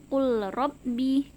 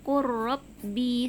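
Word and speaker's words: قُلْ رَبِّ: atas rok seperti itu jadi cara membacanya bukan cool Robbi tapi huruf lamnya langsung diturunkan atau dimasukkan ke huruf RO nya Quro di seperti itu ya Insya Allah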